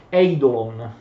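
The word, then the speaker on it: εἴδωλον: In greco il termine corrispondente, ve l'ho scritto in greco, si pronuncia eidolon, l'idolo, cioè è al plurale eidola in greco, cioè in greco l'accento va all'indietro sulla terz'ultima sillaba, ma in latino no.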